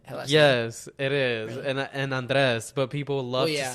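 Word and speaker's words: Andrés: You're gonna say Andres, and you're gonna learn how to roll your Really?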